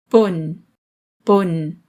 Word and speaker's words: pun: of O small o not o but o pun pun in English it means also to and as